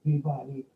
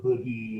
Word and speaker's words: Peabody: to talk about Richard Peabody and uh a very smart friend of mine in Pittsburgh who went to Boston College says don't pronounce it Peabody you'll sound like a Rube and it's py and all this stuff and